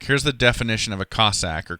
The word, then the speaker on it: Cossack: Yeah, our mascot is the Cossack, a pretty unique one.